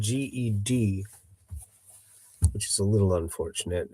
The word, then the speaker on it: Ged: His name is spelled G-E-D, which is a little unfortunate. It's, I think, pronounced Ged, because if it was pronounced Jed, then it would just be spelled J-E-D.